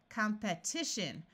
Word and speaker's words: competition: Competition. Notice that when we start adding suffixes to the root compete, this long E becomes a short E sound.